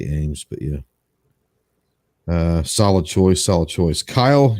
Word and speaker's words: AEMS: The HoloSun Ames, or the AEMS, however you want to pronounce it. I say Ames, but yeah.